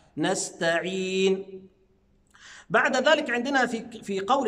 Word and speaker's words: نستعين: هضمها، نعبد، إياك نعبد وإياك نستعين. شايفين حضراتكم السين والتاء كلها حروف مرققة، فأقول نستعين، يبقى ما ينفعش أقول نسطا، لا، ما ينفعش، نستعين.